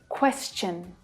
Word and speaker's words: question: When the consonant sound s is the sound right before the TION, the pronunciation becomes chun instead of shun, ch instead of sh. Question, exhaustion, digestion.